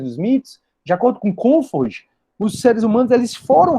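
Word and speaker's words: Comte: Já Comfort se escreve como se fala Comfort, C-O-N-F-O-R-D, Comfort, ele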